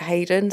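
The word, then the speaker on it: Hyden: Donald Ray now on it's spelled hidden but on the um documentary I think they pronounced it Hayden so that's what I'll go with on Santa Monica Boulevard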